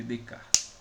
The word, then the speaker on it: Descartes: Descartes se escreve Descartes. Escreve Descartes. É um francês, certo? A gente lê Descartes.